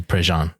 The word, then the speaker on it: Prejean: Wait, for the people, let's tell them how you spell Jesse Prejean.